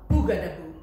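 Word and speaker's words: bougarabou: had to leave, and this is called a boogadaboo. I'm gonna have you try and pronounce it.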